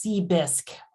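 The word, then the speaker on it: CBHSQ: That's pronounced ”C-BISC” for short.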